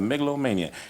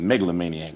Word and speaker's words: megalomaniac: and you can look webster says that i didn't write the dictionary that's the megalomania they pronounce it megalomaniac but i like to say megalomania now then you've got